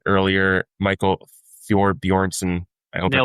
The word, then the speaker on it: Thorbjornsen: Rocket Classic, as I said earlier, Michael Thorbjornsen, I hope I pronounced that right.